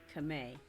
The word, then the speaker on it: Khmer: down as indonesian thai kame and myanmar that's how the internet said is pronounced the khmer is kameh all right then she